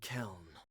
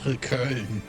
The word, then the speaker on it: Köln: Yeah, the name is German and it's pronounced Köln.